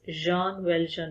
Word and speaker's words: Jean Valjean: Children, the pronunciation of this name is Jean Valjean because it's a French name.